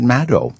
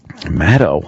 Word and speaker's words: Maddow: That she pronounces it Maddow. Maddow.